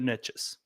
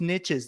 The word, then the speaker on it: niches: together right is the riches are in the niches now for those of you that get triggered by that because I've been corrected before it's like it's not pronounced niches they're pronounced Niche I get it it just